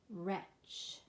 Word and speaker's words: wretch: Wretch, wreath. Rung, gnat, gnaw. Good job, guys. So you can note in all of these words that the first consonant is silent.